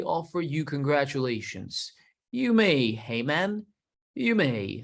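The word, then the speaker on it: Haman: you congratulations you may hey man you may said the king that guy's name is hey-man or in some languages it's pronounced that way hey man esther you're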